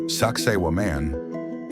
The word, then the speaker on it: Sacsayhuamán: Sakaian, pronounced Sakaiwan, is not just an ancient ruin.